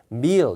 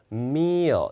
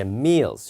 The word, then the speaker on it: meal: 그 다음에 발음을 하나 잡으면은 뒤에 이제 L 발음 앞에 이런 모음이 있으면은 어를 살짝 넣어요. 그러니까 읽을 때 meal 이렇게 읽는 게 아니라 meal 약간 이렇게 다시 한번 들어보십시오.